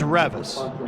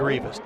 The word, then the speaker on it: Revis: to Ethan hudspath and it is Revis you said it right I may have said it wrong I may have said Rivas did I say Rivas